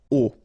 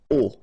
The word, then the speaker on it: aux: And then a plus les will become o, a-u-x, but then remember that phonetically it's o.